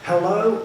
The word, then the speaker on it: Hello: Now I want to introduce Ernest Hello. And I did ask a French man how should I pronounce that? and it's just hello as we would say.